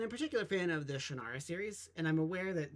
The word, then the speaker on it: Shannara: greatly love and admire, pronounces it Shannara, but for me, it's always going to be Shannara, and I'm sure that I'm not the only one out there.